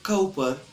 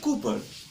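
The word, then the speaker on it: Cowper: after that the surname c-o-w-p-e-r there are several pronunciation of this surname some people say copper some say cuper and some people also saying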